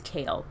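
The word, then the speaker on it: Chaol: basically his name is kale but it's spelled Cho all but it's pronounced kale or kale that sounds like kale kale kale kale kale it's just kale with an accent his name is kale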